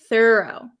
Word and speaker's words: thorough: th thuro does not we don't say tho tho thorough okay oh this is